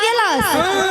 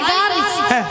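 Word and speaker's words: girls: যাও সেখানেই বলে হাই গ্লাস মাসি ওটা কি কাঁচের গ্লাস নিয়া শোনো মাসি হাই গ্লাস বলে না বলে high গার্লস high গার্ল গার্ল নয় বলো গার্লস একটা কথা উচ্চারণ করতে হবে গার্লস গার্লস দাদু কি বুঝাচ্ছে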